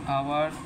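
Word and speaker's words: hour: হবে না যেমন দেখো আওয়ার পরে কিন্তু এ যাচ্ছে কিন্তু এইচ এর উচ্চারণটা হয়নি আবার অনেস্ট ম্যান অনেস্ট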